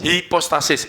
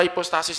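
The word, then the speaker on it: ὑπόστασις: ya hipostasis hipostasis sebnya Jadi gini Yunani itu cara bacanya ada dua Sebetulnya yang yunani-yunani yang saya ikut ya Yunani yang dikembangkan Barat itu agak berbeda jadi cara bacanya bacanya hipostasis gitu ya Hip hipostasis gitu tulisannya gini saudara sedikit-sedikit anu ya dikit-dikitlah sambil biar rileks ya ini epsilon u ini bacanya ada ininya saudaraku jadi ini jadi H nanti terjemahannya jadi ada h-nya gini hembus ya ini transliterasi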